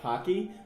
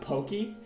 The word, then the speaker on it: Pocky: friend of hers and he got Pocky, but he thought it was pronounced Pokey. Dude, no, that's It's Pokey.